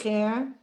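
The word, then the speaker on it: זֵכֶר: Zacher, Not za. Two dots is A. They, Leads, Zecher, leads, Litzat, you have to have that yud sound.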